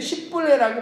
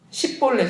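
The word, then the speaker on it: 십볼렛: 이렇게 뭐냐면 6절에 보니까 12장 6절에 그에게 이르기를 십불레라고 발음하여 에브라임 사람이 그렇게 바로 말하지 못하고 십불레라 발음하면 길르앗 사람이 곧 그를 잡아서 요단강 나루터에서 죽였더라 이렇게 말하고 있어요. 원래 십볼레 처음에 나는 그 십볼레는요, 그러니까 십볼레 우이에 십볼레는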